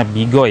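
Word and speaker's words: Be-go: Dibacanya Bigo ya, jangan bego-bego amat gitu ya.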